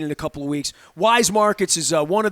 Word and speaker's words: Weis: to pronounce wise yes some people still call it whis right wise you better spend less